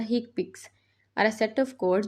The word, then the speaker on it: HCPCS: common procedure coding symptoms commonly pronounced as the hick picks are a set of